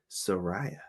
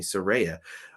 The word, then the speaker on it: Saraya: Britt Baker DMD versus Soraya or excuse me Saraya Rey so Ray yeah